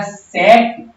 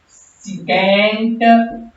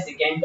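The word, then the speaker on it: secant: वैसे तो इसका एक्चुअल प्रोनाउंसिएशन है सेकेंड ऑफ थीटा।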